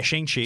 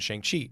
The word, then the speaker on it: Shang-Chi: Yeah, Shang-Chi.